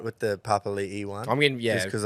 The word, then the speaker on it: Papali'i: Or Josh Papali, Josh Papali'i now. It's like it's hard to remember to call him. Yeah, it's actually pronounced. Like I'm actually all right with the Papali'i one.